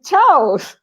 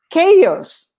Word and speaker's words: chaos: word is funny because a lot of people say ciaos and i say no this is a greek word that comes from this comes from uh greeks and the the pronunciation when the word comes from greek in english is chaos it's strong it's not that's why it's silent the h no no it's actually like a k chaos chaos so the the greek